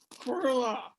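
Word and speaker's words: Qurllllle: Quirla.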